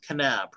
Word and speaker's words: Knapp: your last name is knapp right yes no i'm kidding i know the k is silent yeah i like the